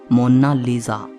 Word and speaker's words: Mona Lisa: कोई इसे मोनालिसा कहता है तो कोई मोनालिसा कहता है, लेकिन इटालियन में इसकी करेक्ट प्रोनाउंसिएशन है मोना लीजा।